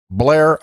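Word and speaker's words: Bellaire: e we pronounce that Blair aha he said' run together run it all together as if it's all one word where you from blaira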